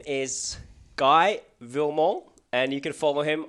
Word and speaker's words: Williment: Did I pronounce your last name right? It's Williment.